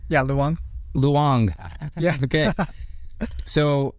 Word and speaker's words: Luong: pronounced your last name correctly, right? Yeah, Luong.